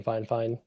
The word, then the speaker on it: Fifine: Um, I got some audio stuff from Fine Fine. F I F I N E. Looks like Fifine pronounced Fine. Fine.